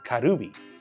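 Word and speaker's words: カルビ: Now, my favorite places specialize in kali or pronounced karubi, which is grilled marinated short ribs marinated in a soy sauce.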